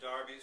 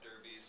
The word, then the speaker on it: Derby: illustrate the earl of darby's pronounced darbies to rhyme with arby's not derbys to rhyme with furbys private menagerie of birds